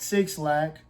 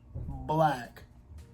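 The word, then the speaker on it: 6LACK: A Black. Not 6 Lack. Black. That's how it's pronounced.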